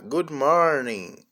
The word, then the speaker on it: good morning: Good morning. Os dois ó tm o som de U e a letrinha G é muda.